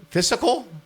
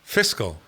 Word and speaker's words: fiscal: Looks like that's another one that again if you play the home game on the other side f physical fiscal they add an extra syllable for some they might be turning it into physical.